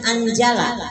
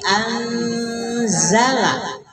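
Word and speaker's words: أنزل: Jadi Zai itu dibacanya Z ya. Jadi jangan Anjala, tapi Anzala. Anzala. Minas Alif Lam Syamsia.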